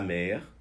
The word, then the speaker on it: mer: Engraçado porque em francês, mar e mãe se pronunciam da mesma maneira. Então, quando eu digo la mère, pode ser a mãe, e la mer pode ser o mar.